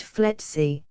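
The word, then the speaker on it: FLETC: law enforcement training center flet pronounced fety in glinko Georgia but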